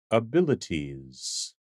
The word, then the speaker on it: abilities: This noun is pronounced abilities. Abilities. Abilities. Emphasis on the second syllable.